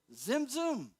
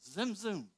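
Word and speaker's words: tzimtzum: And so what then occurred, and how would you pronounce T-Z-I-M, T-Z-U-M? Zimzum. One of my favorite Hebrew words, Zimzum.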